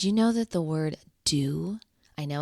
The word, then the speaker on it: duh: Did you know that the word do, I know it's spelled and looks like duh, but in Slovenian, it means spirit. I mean, how cool is that? And it's pronounced do.